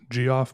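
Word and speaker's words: Geof: be pronouncing that wrong his first name is spelled g-e-o-f so it might be g-off but i'm pretty sure it's jeff because i think that's usually how it's pronounced anyways if you don't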